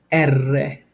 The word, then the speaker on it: erre: it you can do it okay R is pronounced erre okay s notice I put two s's there